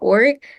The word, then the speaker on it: Ullrich: I have a rare form of muscular dystrophy called ORIC. The way to spell it is ULLRICH.